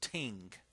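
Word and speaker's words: 聽: And the pronunciation for that together to listen is pronounced ting, which is just a pronunciation. I don't think that's in your book, but it's the pronunciation.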